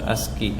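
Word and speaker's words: ASCII: is the pronunciation aski ask as is typically pronounced asky ask asky code asky okay okay so sa GPT characters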